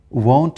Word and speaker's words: won't: yeah different and and people usually don't know how to pronounce will not it is won't and it must be different from w n t that is want he wants to go and he won't go means he will not go the birds will have